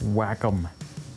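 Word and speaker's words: Wacom: Oh, it's pronounced whack-em.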